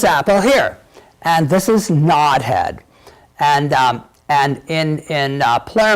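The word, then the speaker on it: Nodhead: apples here this Apple here and this is nod head and and in in play mode some people pronounce it not head like KN o th e ad RN o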